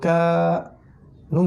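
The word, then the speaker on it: كان: এই যে নিচের দুইটা লাইন যেমন এখানে দেখবেন এই যে কাফ আলিফ জবর কা, নুন জবর না, কানা, কানা। টানটা কিন্তু কাফে দিতে হবে।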